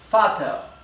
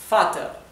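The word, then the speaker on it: Vater: palabra para padre es Father Father Así que como pueden ver la v corta o la v se pronuncia como la f Father sin embargo hay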